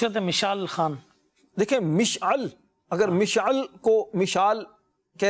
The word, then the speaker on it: مشعل: مشعل جو ہے یہ اب یہ مشعل یا مشعل کہیں گے. مشعل درست تلفظ والا حضرت کا شعر ہے نا.